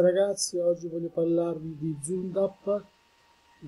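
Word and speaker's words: Zündapp: oggi voglio parlarvi di Zundapp, si pronuncia più o meno questa perché ha la umlaut, quindi due puntini sopra la U, e GS, grande sport,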